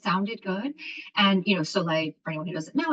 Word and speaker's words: Soleil: brand it just sounded good and you know soay for anyone who doesn't know is the French word for sun there and it's spelled s o e i l that's the